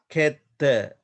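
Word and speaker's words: khetta: You see here, you can see that the a here, this long letter, but here the join letter. Therefore, we pronounce it et, ketta, ketta, ketta.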